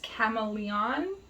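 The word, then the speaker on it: Camaleon: absolutely gorgeous this color it's not chameleon it's chameleon i think i might be pronouncing that wrong it's c-a-m-a-l-e-o-n um so hopefully you'll understand why i got the two mixed up um yeah so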